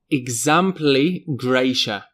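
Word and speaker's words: exempli gratia: Okay, up next we have examply gracia. Now the t i a there is slightly strange but generally we just pronounce this eg and often this is used in writing.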